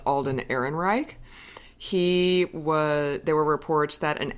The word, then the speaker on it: Alden Ehrenreich: The guy who's playing young Han Solo, who we believe his name is pronounced Alden Ehrenreich, there were reports that an acting coach was